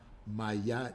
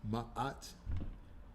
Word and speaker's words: Ma'at: She was trying to tell her that it's not Mayot, Mayot, that is Ma'at.